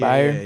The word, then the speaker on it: Byard: Kevin Baird. Is that how you pronounce his Byard. name? Byard.